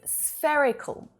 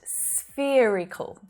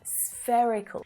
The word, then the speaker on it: spherical: right well no actually the adjective spherical is pronounced with a different vowel sound okay so it's not spherical but spherical spherical and lots of